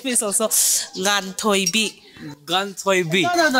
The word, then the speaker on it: Nga: My name is also Ngan Thoi Bi. Ngan Thoi Bi. No. Ngan. I'll spell it. N-G-A-N-G-A. We pronounce it Nga.